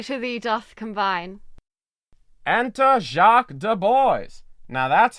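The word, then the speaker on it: Jaques de Boys: faith my fancy to thee doth combine enter jacques du bois now that's how that name should be pronounced let me have audience for a word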